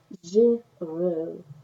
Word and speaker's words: Girot: Girot, and it is pronounced Frenchly Girot.